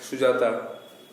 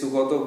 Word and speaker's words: Sugata: Don't pronounce it as Sujata. Okay, it is Sugata Bose.